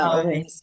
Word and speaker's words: Olweus: You know, that's the only I don't know how to pronounce that guy's name but you probably know Olweus whatever. Yeah, Olweus.